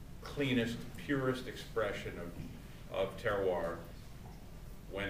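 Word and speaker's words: terroir: comes down to is is terar that that that that horrible French word that everybody thinks is spelled Terrier but there is is terar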